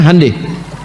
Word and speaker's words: Hyundai: Hyundai itu dibacanya hande.